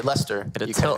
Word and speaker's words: Leicester: And the final spot was determined just last weekend in Leicester, United Kingdom. Oh, you had to say or like as normal people say, Leicester.